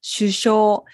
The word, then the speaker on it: 首相: では次です首相を読みます首相これ読み方を覚えるのが難しい